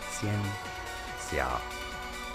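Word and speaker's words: 仙侠: The pronunciation goes something along the lines of Xianxia.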